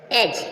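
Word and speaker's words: edge: जी से पहले डी आएगा डी क्या है साइलेंट रहेगा आप इनको नियम को बिल्कुल लर्न कर ले एज एज मींस किनारा एज एज मींस किनारा जी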